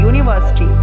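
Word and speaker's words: university: You vowel है, counting जब आपने देखा ए ई आई ओ यू, लेकिन यू वोवल होने के बाद भी इसका जो प्रोनाउंसिएशन है वो य आ रहा है, यूनिवर्सिटी।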